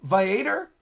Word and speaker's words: Viator: Viator, like Aviator without the A.